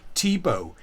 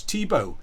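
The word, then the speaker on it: Thibeaux: was uh um a a French or Creole name Tebow spelled t h i b e a u x Tebow and so people mispronounced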